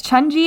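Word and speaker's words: Cheonji: Yeah, it's Chunji in Korean and Tianchi in Chinese.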